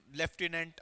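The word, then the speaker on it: lieutenant: Then comes ल्यूटिनेंट, लेफ्टिनेंट बोलते हैं, तो स्पेलिंग उसको इंग्लिश में ल्यूटिनेंट बोलते हैं, ठीक है।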